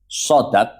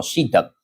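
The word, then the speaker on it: صداق: Lafaz sodak itu bisa dibaca dua. Shadnya bisa di fathah, sodak, atau shadnya bisa dibaca kasroh, sidak. Tapi yang lebih fasih itu bacaannya sodak.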